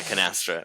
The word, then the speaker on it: Canastra: comes out but um yeah canastra would be how pronounced and yeah it's interesting